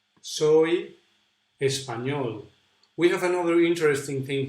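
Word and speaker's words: Español: pronounced like this actually the position of the tongue is very similar to the position where we pronounce the double El ja yeah so it's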